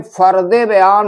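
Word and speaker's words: फ़र्दे बयान: तो यहां पर यह जो है उर्दू का फदे बयान है। उच्चारण में फरदे बयान होता है।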